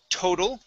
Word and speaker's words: total: And last word is the word total. Okay, the second D, T is a D sound.